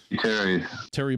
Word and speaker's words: Thierry: Is it T-H? Someone please help me. It'd be like Terry, basically. Yeah. Okay. Terry Boulard, I suppose, as